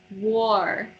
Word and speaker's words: war: Because when you say it, it kind of sounds like R. It's or. War. War. It like becomes another one. It's only the O sound.